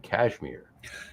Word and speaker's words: Cashmere: It's got Citra, Eldorado, and Cashmere. And da-da-dum. Exactly. No, it's spelled with a C, not a K. So there. Wrong Cashmere. There you go. And it's MERE, not MIR.